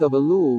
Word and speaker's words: shofar: Angels musical instrument aaar offer chaar from Hebrew pronounced OFA listen is an ancient musical horn typically made